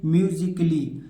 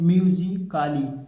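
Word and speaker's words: musically: word है जिनके बाद ए के बाद अगर डबल एलवाई तो यहां पर जो ए है इसको हम पढ़ेंगे ही नहीं इसको क्या होता है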